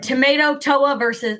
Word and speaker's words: Tamatoa: Tamatoa Perfect. and Maui. Yeah. I think you were saying it fine originally, Brandon. Tomato, Toa and Maui.